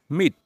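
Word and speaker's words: met: বাংলা অর্থ সাক্ষাৎ করা মিট এর পাস্ট ফর্ম উচ্চারণটা কি হবে মেট আমরা কিন্তু প্রায় ভুল করে থাকি মিটই বলেই থাকি কিন্তু এটা মিটের পাস্ট ফর্ম উচ্চারণটা হবে মেট পাস্ট পার্টিসিপল ফর্মের উচ্চারণটা হবে মেট তাহলে মিটের পাস্ট ফর্ম কি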